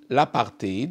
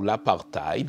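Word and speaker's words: apartheid: début des années 90 l'apti ou l'apartiide les deux prononciation séquivale bas sont plein en Afrique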